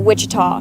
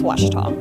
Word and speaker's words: Ouachita: university back in texas everybody pronounces it wichita but really it's ouachita washington washington how would